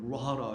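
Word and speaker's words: רוח: 근데 이 판이 루아흐라고 하는데 그 여러분 아시는 영을 갖다가도 히브리어로 루아흐라고 하죠. 그때는 R 발음이고요. 이 판으로 말할 때는 L 발음이 돼서 루아흐라고 합니다.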